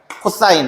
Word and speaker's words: cos: 자, 그다음에 COS라고 하면서 이거는 우리는 코사인이라고 읽는다. 코사인 A.